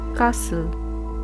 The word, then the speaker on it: castle: Castle. So T is silent.